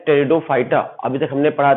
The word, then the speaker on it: Pteridophyta: टेरिडोफाइटा के नाम का पहला अक्षर पी होता है जो साइलेंट होता है, याद रखिएगा। तो फर्स्ट लेटर पी से स्टार्ट करेंगे, लेकिन पी को पढ़ते नहीं है, साइलेंट रहता है, तो टेरिडोफाइटा पढ़ेंगे।